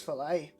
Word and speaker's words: filet: Similarly, I know it's filet, but I'm going to say fillet.